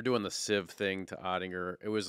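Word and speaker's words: Oettinger: the flurry deal but his name has three syllables right and it's kind of a hard name to say so the fan base they started trying to do otter odd or which you can't do because it's almost like a compliment you're like calling him him his nickname or whatever so I would just say if we're going to do that we got to grind through the three syllables we got to go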